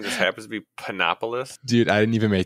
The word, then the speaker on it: Panopoulos: o u l oos it might be a different way to pronounce it but I got pinopolis like pineis yeah is that what you